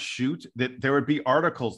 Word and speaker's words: Schutt: sorry man I apologize shoot it will be shoot from now on and that's gonna be easy to remember because the Dude is a great shooter hey don't don't beat